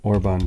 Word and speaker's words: Orban: The Bombard, they're also called an orban gun or an urban gun. Orban gun. Orban, there you go. Or they would call them Orban, or they would be spelled with a U, like urban, like possibly like they're meant to take out urban areas.